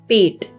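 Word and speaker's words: पेट: Then we have the word for stomach, which is pet. Pet. Again, the T is a hard T, right?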